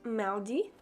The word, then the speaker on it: mardi: Tuesday is pronounced mardi.